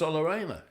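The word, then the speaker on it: Aina: to him how do you want your name pronounced a up and he it was allena and what about broer as he was for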